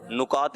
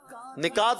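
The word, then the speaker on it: نکات: नुकात भी सही है कि निकात भी सही है? दोनों निकात। हाँ भाई, निकात होता है कि नुकात होता है? कौन बताएगा यहाँ से? निकात। आप क्या कह रहे हैं? नुकात शायरी। नुकात शायरी, नुक्ता की निकात शायरी। निकात शायरी दुरुस्त जी।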